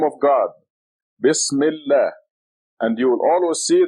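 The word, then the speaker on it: بسم الله: And now, a very simple rule is that this article al becomes silent when you read the two words together. So this becomes Bismillah. Bismillah.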